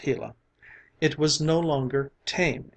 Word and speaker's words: Gila: When the hot sun shone down on the Gila monster, pronounced Gila, it was no longer tame and gentle, but